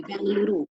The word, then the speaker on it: बेंगलुरु: कर्नाटक और बंगलुरु, जबकि हम बोलते हैं क्या, बेंगलोर, है ना? बेंगलोर बोलते हैं, और जबकि इसका नाम जो होता है बेंगलुरु, है ना?